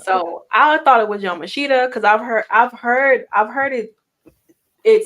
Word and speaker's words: Yamashita: And then in our main event, Jordan Grace, Miyu Namashita, right? From what they were saying, Because I guess I've been saying it wrong too. It's supposed to be Miyu Yamashita or Yamasha, something like that.